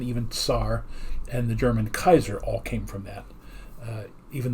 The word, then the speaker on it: Caesar: be Julius, and his last name would be Kaiser or Kaiser. Yeah. Yes. Now, I understand, because the later names for monarchs throughout Europe, the Russian Tsar and even Tsar and the German Kaiser all came from that, even though Russia and